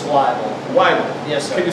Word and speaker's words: Wybel: It's Wybel. Wybel. Yes, sir. Can you spell that for our viewing audience?